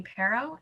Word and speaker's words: Parrow: with your last name is it piro is that how you say it um my name is for the record my name is parrow and i'm a vermont